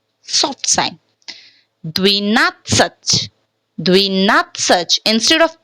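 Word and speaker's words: двенадцать: Dvinatsach, dvinatsach. Instead of pronouncing dvenatsach, dvenatsach. Instead of pronouncing dvenatsach, we are pronouncing dvinatsach. So first of all, why this word is pronouncing as dvi? Because ye is unstressed.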